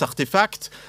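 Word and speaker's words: RTFKT: Alors ici, pour entrer directement dans le vif du sujet, le drôle de mot que vous voyez là se prononce Artefact.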